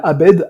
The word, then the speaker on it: Abed: Je leur ai dit, bah, c'est Abed. Normalement, ça s'écrit A-B-E-D.